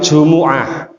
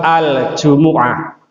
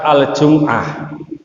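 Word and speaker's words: جمعة: kita salah ucap Pak Jadi kalau jumah itu bahasa Indonesia Kalau bahasa Arabnya itu Jumuah Makanya kalau di al-qur'an itu suratnya surah aljumuah bukan surat aljumah ya jadi pengucapan artikulasi dari bahasa Arabnya itu aljumuah kita baca hadis pertama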